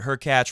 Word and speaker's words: Hurkacz: They need to play Hubert Hurkacz, rhymes with Latch, or Yao Souzapalooza, or Souza.